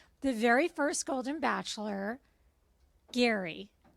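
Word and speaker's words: Gerry: But no, we're talking about the very first Golden Bachelor, Gary. That's spelled G. Spelled like Jerry. But he's Gary.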